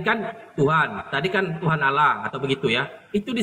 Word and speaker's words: Allah: kalau dari etimologi bahasa kalau muslim sendiri kan mengatakan Allah itu kan dia ee Tunggal ya karena pembacanya pun juga double l kan begitu sementara Nasrani mengambil kata Allah cuman membacanya dengan Allah doang tidak Dou l itu etimologi bahasanya dari